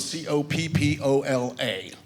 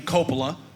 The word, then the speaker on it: Coppola: They pronounce their name Coppola. We pronounce it Coppola. Actually, both ways are correct because it's a very common last name.